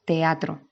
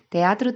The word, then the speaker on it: teatro: en sílabas diferentes vale por ejemplo la palabra teatro vale teatro tiene tres sílabas porque